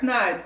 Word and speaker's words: Knight: E é a mesma pronúncia de Night, que é noite. Tá. É Dark Knight, Cavaleiro.